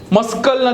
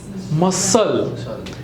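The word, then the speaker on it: muscle: મસ્કલ નથી, શું છે? મસલ.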